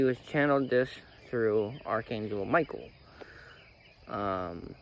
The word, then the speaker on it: Michael: channeled this through Archangel Michael um or Mikel as it's technically pronounced now Mikel said that